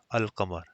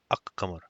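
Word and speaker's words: القمر: And then no assimilation will take place for the moon letters. So al-qamar is pronounced al-qamar. Okay, so it's not ak-qamar.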